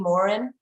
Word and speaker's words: Morin: So Celynn, how do they pronounce it in the UK? Celynn Morin?